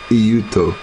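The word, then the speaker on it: Eutaw: track Casino in e euto euto e u t a w so the E is silent and it's Utah instead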